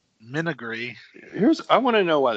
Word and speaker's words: menagerie: Nope, Menagerie. Menagerie.